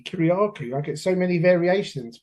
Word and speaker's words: Kyriacou: Kuryaku.